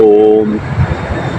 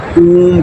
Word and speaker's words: ऊम: तो अक्सर मैंने सुना है ओम का उच्चारण लोग करते हैं ओम, उसमें ओ तो है ही नहीं है, ओम में ऊ है, ऊम कोई कहता नहीं है, ओम कहते हैं।